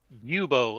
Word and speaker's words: Bubo: how do you pronounce his name bubo like Bubonic Plague bubo i see